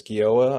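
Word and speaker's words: Gioia: pronounce ted's last name i guess it's guilla i'm not really ted's forgive me it's g-i-o-i-a so i don't know how to pronounce it as italian i assume uh i'm just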